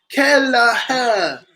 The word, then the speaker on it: Kelleher: It's pronounced A-O-R. Kelleher.